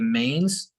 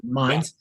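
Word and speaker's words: Mainz: into the city of Maine's and um is is that how we pronounce it the city of Minds mines my apologies mines can you take us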